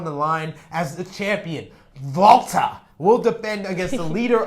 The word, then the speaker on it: Walter: to be represented by anybody else other than Volta. Yes, in Tampa, Florida. I'm sick of people calling him Walter.